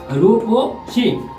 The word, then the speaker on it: রূপসী: নীতি ভিউয়ার্স লক্ষ্য করো বামে আছে রূপসী ডাইনে উচ্চারণ নীতি হলো রুপ ও শি ভিউয়ার্স একটু লক্ষ্য করো